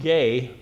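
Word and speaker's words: γῆ: word is the word it's pronounced gay but it's just two letters it's ge that's the word for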